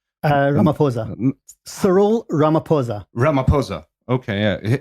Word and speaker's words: Ramaphosa: How do you pronounce the South African premier's name? Ramaphosa.